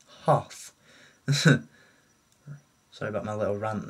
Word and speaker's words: Hoth: Princess Leia in her o I keep saying that in her o o no it's not o it's ho sorry about my little